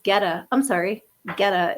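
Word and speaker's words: goetta: Oh, it's pronounced geta.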